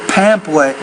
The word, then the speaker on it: pamphlet: The first word is pamphlet. You have to pronounce the P with more air. A pamphlet.